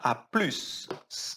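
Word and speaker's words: à plus: Cuidado da pronúncia, tá? A plus. A gente tem que falar o S aqui também.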